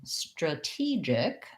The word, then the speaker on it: strategic: e so strategy then when i'm changing to strategic it's similar to what we were just talking about earlier with now because i have second syllable stress this t no longer is a flap it actually says the aspirated t sound um and i still